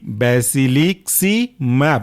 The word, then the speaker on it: basiliximab: इसके बाद हमारा तीसरा सब क्लास है इंटरल्यूकिन 2 रिसेप्टर एंटागोनिस्ट और इसके अंदर का एग्जांपल है बैसिलीसिक्सीमैब, स्पेलिंग है बैसिली, BASILIXIMAB, बैसिलिक्सीमैब, मोनोक्लोनल एंटीबॉडी।